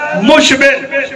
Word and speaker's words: مشبر: بات تلفظ کرتے ہیں شبر شبیر مشبر، ٹھیک ہے یہ بھی، لیکن میں حسین کے وزن میں پڑھ رہا ہوں شبر شبیر مشبر.